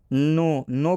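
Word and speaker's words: know: नो में भी आप देख सकते हैं कि स्टार्टिंग में के आया है और के बाद यदि एन आता है तो ये के क्या हो जाता है? साइलेंट हो जाता है, मतलब के का उच्चारण नहीं करना है।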